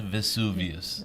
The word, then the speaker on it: Vesuvius: It is Mount Vesuvius.